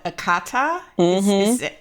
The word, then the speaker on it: Akata: say this wrong, called Akata. Yes, is that, did I say it correctly? You would put a little twang in it like you did before. Akata.